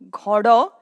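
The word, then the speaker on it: घोडो: Ghodo, which means horse. Ghodo. It means horse. If you see the pronunciation of this noun, ghodo, it is pronounced as this, gho, do, open sounds.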